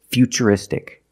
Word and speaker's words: futuristic: And we see T-U-R-I in futuristic. Again, the T is pronounced with the ch sound. So the first word, future, and the second word is futuristic.